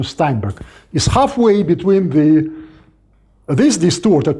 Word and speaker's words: Steinberg: real German pronunciation, because if it were a German name, it would be pronounced as Steinberg, of course with K at the end, not G, Steinberg.